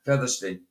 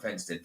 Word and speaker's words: Featherston: when um when uh Featherston not Fston Featherston um me said it